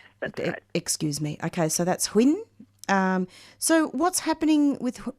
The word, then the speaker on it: Huyen: How do you pronounce it? Quinn. Hinn. That's it. Yes, that's right. Excuse me. Okay. So, that's Hinn.